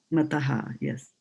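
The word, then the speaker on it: मतः: mataha Not mataha. Mataha. mataha mataha Mataha. There's no double T there. Mataha. mataha. Mataha. Yes.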